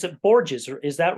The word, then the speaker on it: Borges: It's at Borges, or is that right, Chloe? That's how I pronounce it.